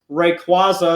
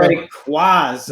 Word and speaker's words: Rayquaza: we're Rayquaza. we're a Rayquaza family. It's radar. It's Rayquaza. radar What? Quasar. We understand that it's phonetically Rayquaza, but come on, Rayquaza.